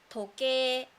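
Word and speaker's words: 時計: We don't say that. We say toke, toke as clock. So when you find any words that is written like a I sound and o u sound, should be pronounced like a, o.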